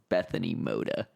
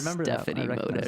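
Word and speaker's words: Bethany Mota: we're talking about that, I realized I had her name wrong. It's Bethany Moda. Ah, yeah. I said like Stephanie Moda or something something.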